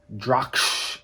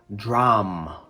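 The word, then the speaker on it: drachm: pronounce it looks like drock um but this is the spelling of i believe it was a latin word it should be pronounced dram drum so the c and h are silent draw um drum okay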